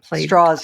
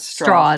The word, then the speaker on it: Strauss: the other man being Louis Strauss straws he pronounced straws that's right straws yes in fact there was